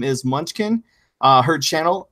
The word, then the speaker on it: Munchkym: It's actually Munchkym because